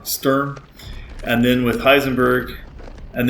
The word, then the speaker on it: Sturm: Now it does 10,000 points of damage after the fight with Stum Stern. I'm sorry I always say it wrong. Sturm.